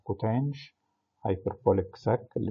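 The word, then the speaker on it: coth: تكملت طبعا الستة فانكشنز، في واحدة تشبه الكوتان والساك والكوساك نقول عليهم هايبربوليك كوتان اللي هي بننطقها كوتانش، هايبربوليك ساك اللي بننطقها ساش، هايبربوليك كوساك بننطقها كوساش.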